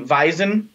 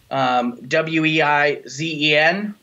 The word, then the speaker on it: Weizen: Weiss, W-E-I-S-S-E, W-E-I-Z-E-N, Weizen, right. Weiss, they're very similar. They sound the same. We have a W that sounds like a V.